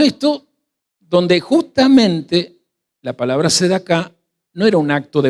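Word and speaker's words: צדקה: Y en este contexto aparece la palabra limosna, que para el idioma de Yeshua se pronunciaba así, después lo repite, sedaká.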